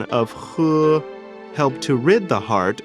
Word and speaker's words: 呵: The pronunciation of 呵, similar to the English word her, the pronunciation is assisted by the tongue. When exhaling to pronounce this word, pull the tongue back slightly and slowly exhale air from between the tongue and the upper jaw.